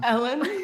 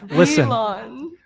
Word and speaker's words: Elon: So Ellen. I don't know how to pronounce his name. Elon.